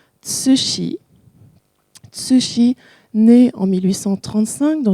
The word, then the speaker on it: Cixi: Donc, son nom s'écrit C-I-X-I, ça se prononce Cixi.